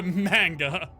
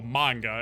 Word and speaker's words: manga: Cthulhu got a manga. Or manga, as it is properly pronounced.